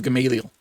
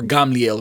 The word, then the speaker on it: Gamaliel: at the feet of Gamaliel or gamliel if you want to say the Hebrew pronunciation but for the most